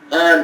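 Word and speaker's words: Хан: And Sud Vremeny got transferred to a Spetsnaz battalion called Han Battalion. In Russian it's spelled like X-A-H, but it's pronounced like Genghis Khan.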